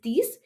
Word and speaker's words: dix: 10 is these. The pronunciation is almost like C's, which is six.